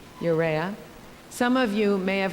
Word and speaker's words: Urrea: with the author and I'm going to get this name wrong so someone shouted out Luis Alberto yuria am I saying that right Urrea thank you you'rea some of you may